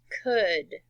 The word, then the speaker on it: could: words in a word the AL is actually silent look at this word for instance good good you don't say it like cold alright it's almost like a short u sound could would should couldn't wouldn't